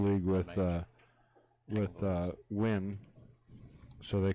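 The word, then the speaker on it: Nguyen: right it's that yeah it's actually pronounced win says foreigners he's vietnamese all right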